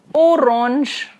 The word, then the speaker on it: orange: that Jean is yellow now the orange orange is orange orange ans pronounces oh so it is orange and similarly here again